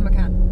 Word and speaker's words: Macan: Macan. It's a Macan.